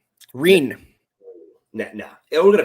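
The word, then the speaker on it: Ryne: I'm 100% sure it's actually not Ryan, but I'm still going to say Ryan. It's spelled R-Y-N-E. Reen.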